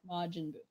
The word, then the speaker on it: Majin Buu: Majin Buu. Thank you. I need Greg here every week to tell me how to pronounce things.